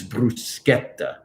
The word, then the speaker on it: bruschetta: to say um to say bruschetta because it's bruschetta it's c-h-e in italian makes a k sound